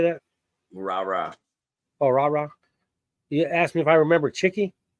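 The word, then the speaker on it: Rara: Rah-rah.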